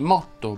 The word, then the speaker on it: motto: La O tonica delle parole che terminano in otta, otte, otti, otto va pronunciata aperta. Si dice infatti motto, bambolotto, motto, aggrotto, spinotto, grotta, botta e fiotto.